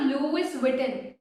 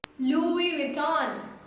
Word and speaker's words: Louis Vuitton: It's not Louis Vuitton. Louis Vuitton. Louis Vuitton. It's not that each and every word you have to pronounce it by letter wise.